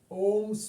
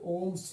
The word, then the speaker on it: Ohm: Next is an important law is Ohm's law. Okay, there is no pronunciation this H.